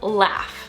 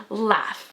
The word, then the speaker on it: laugh: this is pronounced as laugh yeah the gh somehow turns into an f sound at the end of this word laugh i know that's weird